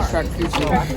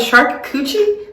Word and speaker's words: charcuterie: Someone just mispronounced charcuterie board, and they started our charcuterie board.